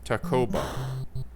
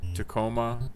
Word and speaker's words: Tacoma: Helen Shelton who lives north of Mount Rainier told me that her people called it Tacoma the syllables almost equally stressed the be explosive she